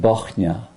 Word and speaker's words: Bochnia: Bochnia is spelled B-O-C-H-N-I-A.